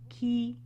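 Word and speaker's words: qui: who or whom is key and it's pronounced like the word for to put a key in the door key remember it means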